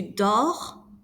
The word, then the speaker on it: dors: Je dors, tu dors, il dort. Notice that we do not pronounce the S or the T.